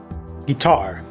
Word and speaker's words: guitar: saben Aunque como tip la entonación el Stress he escuchado muchas personas decir Guitar Pero es en la última sílaba correctamente Guitar Guitar pero esa no